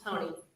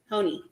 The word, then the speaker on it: Hone: Am I saying that properly, Ms. Hone? Hone. Hone. Yes. Okay. You're all saying it wrong.